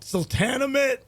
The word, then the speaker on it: Sultanahmet: like pronounce it like slow? Sultanahmet.